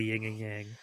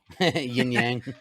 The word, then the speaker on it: yin and yang: I are like a ying and Yang see Cory and I first of all there's no G and yin and yang yin yang uh you bastard I've been